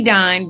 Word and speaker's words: Dine: Dine, rhymes with divine.